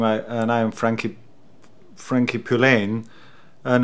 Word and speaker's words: Poullain: Frankie Frankie Poulain and the reason I say Poulain is because there was anything that weird rhyme with this is eddie greyham Eddie Graham so we changed the pronunciation of EDS name the drummer and my name let's go along starts fellow